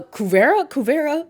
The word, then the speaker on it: Korra: Uh, Kua, that's how you pronounce her name.